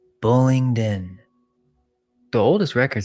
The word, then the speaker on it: Bullingdon: Say it slowly. Bullingdin.